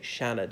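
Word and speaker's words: Seanad: the senate i suppose you could say Shannon if you really want to pronounce the Irish way and T shook as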